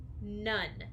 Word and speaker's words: none: hard one to remember none n o-n-e nun say the word nun spell the word nun n o and E nun good say the word nun spell the word nun n o and e nun perfect the word is none if you don't have